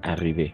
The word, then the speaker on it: arrivés: Incluso si está con la S, vamos solo a pronunciar arrivés.